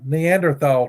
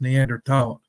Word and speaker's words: Neanderthal: The type 2 is what I call the Neanderthal type, and I'm not pronouncing Neanderthal correctly. It's Neanderthal, I think. But I think the H is silent.